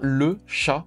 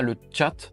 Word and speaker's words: Le Chat: Donc non, vous ne rêvez pas, c'est bien le chat prononcé en français, c'est pas le chat. Le chat, on dit bien le chat ou le chat? On dit le chat en français.